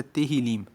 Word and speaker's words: Tehillim: Tanto que no hebraico, o nome do livro de Salmos é Tehillim. Se escreve T-E-H-I-L-I-M, que quer dizer louvores. E o livro dos louvores, o Tehillim dos hebreus, dos judeus, é o livro que